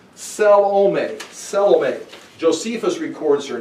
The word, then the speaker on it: Salome: I would check the pronunciation. Salome.